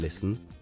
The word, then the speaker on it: listen: the L is silent in listen the t is silent and in KN the